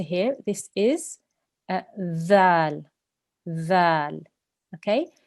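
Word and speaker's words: ذال: This letter here, this is dhal. Dhal. Okay? Your tongue should touch your top front teeth and make it a th sound, not a z sound. There shouldn't be a buzzing sound there.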